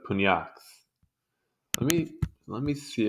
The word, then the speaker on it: pugnax: Pugnax is what it says in Italian and Latin.